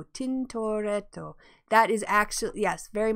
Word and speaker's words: Tintoretto: Am I pronouncing it correctly? Tintoretto. Tintoretto.